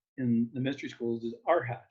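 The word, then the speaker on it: arhat: the technical term in the mystery schools is our hat it's spelled a-r-h-a-t that's the traditional term and the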